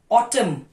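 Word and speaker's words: autumn: रंग climb com date नॉ Depp date ना साइलेंट लेटर एन ऑटम न ऑटम ऑटम डम डम कंडम कॉलम न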